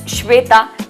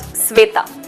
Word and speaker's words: Shweta: For example, my name is Shweta and not Sweta.